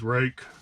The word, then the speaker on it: Ruike: So that is how you pronounce it, is Ruike.